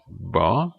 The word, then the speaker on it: hva: Finally, silent H in words starting with HV. This you will meet a lot, because the Norwegian question words is starting with HV. The Norwegian question words, that's equivalent of the English WH. So these words would then be pronounced hva, hvor, hvem, which means what, where, and who.